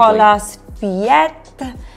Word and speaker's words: Nicolas Feuillatte: Now, you've probably heard Kiri and I and our team out in the market talking about Nicolas Feuillatte. Yep. Interesting one to pronounce. We've been plugging it uncontrollably. Nicolas Feuillatte.